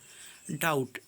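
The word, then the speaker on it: doubt: बुड पर बना देंगे डाउट डाउट में भी साइलेंट है डाउट पर भी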